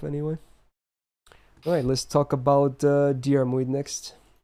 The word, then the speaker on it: Diarmuid: How do you pronounce his name? I say Diarmuid. Yeah, Diarmuid. Yeah. You don't pronounce the I in the latter part? I don't think so. Okay. I don't know. I'm not the best with pronunciation. Honestly, in JP they don't. It's Diarmuid though.